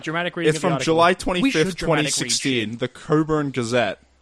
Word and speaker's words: Cockburn: the Coburn Gazette. Not pronounced Cockburn.